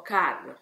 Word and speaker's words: Kerr: Robert Kerr, o Carr, secondo la pronuncia inglese, ha appena 21 anni,